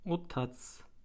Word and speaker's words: otac: baba o tat baba o tat baba Türkçe o Taç şeklinde yazılıyor Boşnakça O tat şeklinde okunuyor c harfini biliyorsunuz s şeklinde okuyoruz çimense Bave